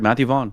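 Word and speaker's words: Matthew Vaughn: of movie very particular did I get that name wrong jefff no no that's right Matthew vaugh yeah nice good memory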